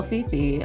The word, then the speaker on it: Fefe: All one word, but Fifi is spelled F-E-F-E, not F-I-F-I.